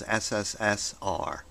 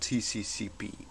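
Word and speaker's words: СССР: see here cccp actually this is not cccp but you have to read it as sssr something like socialists Soviet Republic or something like that so actually you pronounce it as sssr and not tccp okay so there's your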